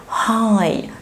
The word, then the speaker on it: high: الورد دي I high، ما جبناش خالص سيرة الجي اتش لانها ما عملتش اي ساوند.